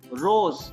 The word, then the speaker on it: rose: Then S will be pronounced as Z. See, in English language also, for example, rose, R-O-Z-R-O-S-E, rose, golap. S is placed between O and E, right?